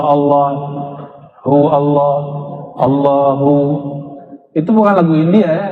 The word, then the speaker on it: Allah: Al Allah itu bukan dia lam ketemu lam. Allah harus disambung bukan mati Allah.